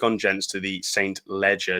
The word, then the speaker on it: Leger: Leger, not spelt with a D. It is just the Leger, Leger.